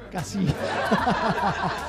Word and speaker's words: Casino: Io è uscito Scorsese, che è pur sempre italo-americano, e dico Casino, però senza l'accento sulla O. Casino.